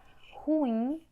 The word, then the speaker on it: ruim: Aí temos a palavra ruim. Quando você vai chamar ruim, a sílaba que tem mais força é a última. Ruim, oxítona. Temos revólver.